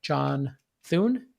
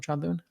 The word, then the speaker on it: John Thune: good answering a question from south dakota senator john thune is that he pronounced his name sean doon yes okay about facebook's engagement based ranking and